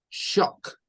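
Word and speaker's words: chalk: situación Y es que en algunas palabras la l suena y en otras palabras la l no suena Entonces tenemos ahí por ejemplo shock solo escuchamos la la y después la k es decir esto está compuesto de tres sonidos realmente el Esos son los tres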